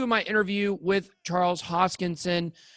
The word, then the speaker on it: Hoskinson: This is part 2 of my interview with Charles Hoskinson. Make sure you guys pronounce his name right---Hoskinson. There's a lot of mispronunciations out there.